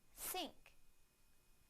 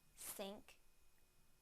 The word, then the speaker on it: sink: think now the S sound in the word sink sink sink now I will use them both in